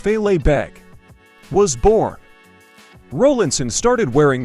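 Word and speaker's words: fèileadh beag: Lo and behold, the small kilt, or in Gaelic, filet beg, pronounced filet beg, was born.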